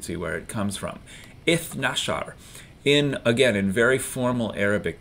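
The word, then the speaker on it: اثنا عشر: we're counting tens, but when we count teens, generally speaking, we leave off the ta marbuta and don't pronounce the ra either. So we know that ithnain is our number for 2, and ithnashar is our number for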